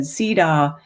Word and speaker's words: CEDAW: sarcastically and he said cedaw rhymes with hee haw um in a famous